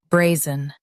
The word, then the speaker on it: brazen: Zun, brazen. Stress bray and soften zun, bray. Zun, brazen.